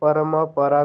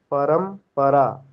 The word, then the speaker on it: परंपरा: उसको हम परमपरा नहीं बोलते हैं। उसको क्या बोलते हैं? परंपरा। मकार क्या है? हलंत है, अचहीन है। तो अचहीन मकार का उच्चारण हम ऐसे करते हैं।